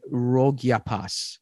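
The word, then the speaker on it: rogyapa: or more commonly bya and again pronunciation rogia pass or R OG g y a p a all one word and translates Loosely to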